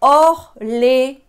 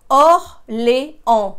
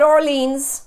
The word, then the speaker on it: Orléans: And then we have Orléans. Orléans. No, it's not Orleans. It's not New Orleans or Orleans. The S is not pronounced.